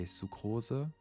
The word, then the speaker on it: Sucrose: when I found out if you wanted to pronounce sucrose more German you could say sukoza sukoza but I would just call